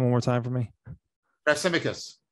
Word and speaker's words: Thrasymachus: Thrasymachus. Thrasymachus.